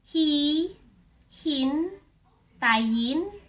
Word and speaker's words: hihintayin: If you wanna say I will wait for you ----- Hihintayin kita. Hi hin ta yin ki ta Hihintayin kita. Or ----- Maybe you wanna